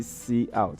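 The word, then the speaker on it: cout: don't pronounce that couch we don't pronounce it couch we call a we say C out okay is an acronym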